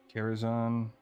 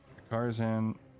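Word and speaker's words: Karazhan: The only rating I've ever really done when it's current content is Kerazan and Carzan. I can't talk. That's how Medivh or Khadgar pronounced it in the Warbringers and then Harbrer.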